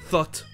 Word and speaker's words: thought: Tous les verbes terminant par O-U-G-H-T vont se prononcer hot. O, puis le UGH muet, et ensuite T. Comme par exemple le prétérit de think, qui va être thought.